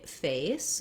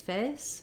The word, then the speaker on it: face: A typical error pattern is that people might just use A and they might say face. They don't have enough length and they don't glide their vowel from a